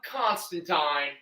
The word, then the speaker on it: Constantine: got my boy John Constantine and yes that is the correct pronunciation Tyne not teen all right think fine